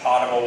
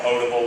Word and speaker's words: potable: of Fort Worth for potable water. I know it's called potable water, but I say potable. People correct me all the time from the north, but that's how we pronounce it in the south.